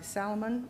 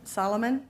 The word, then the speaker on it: Solomon: uh armstrong second by salomon solomon excuse me he's back and i got his name wrong the first time a second by solomon